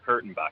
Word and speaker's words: Kurtenbach: the mercury news dieter am I am i pronouncing your name correctly that's I start off most of my interviews yeah dieter Kurtenbach you nailed it so it's not dieter no